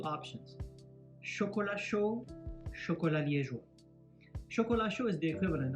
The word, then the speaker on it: liégeois: And chocolat liégeois means hot chocolate with whipped cream on top. So chocolat chaud, chocolat liégeois. Liégeois. Make sure you pronounce that good, not liégeois.